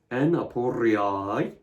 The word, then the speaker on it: aporiai: Here we have a phrase, en aporiai, which means in perplexity.